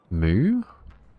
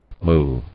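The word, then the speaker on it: moue: no idea what it how do you pronounce it m o u e moo moo oh my God that was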